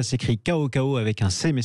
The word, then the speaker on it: CaoCao: hausse à ces cris ko ko avec un cem et c'est un nom chinois c'est pour ça qu on le prononce ainsi sa rolls c'était j'avais